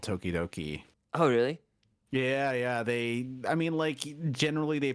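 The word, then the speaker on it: ときどき: So here is a 4-syllable word that not only uses consonant vowel sequence, but it repeats too. So it's tokidoki.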